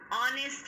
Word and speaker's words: honest: Dash honest man, H is silent, so it is an honest man.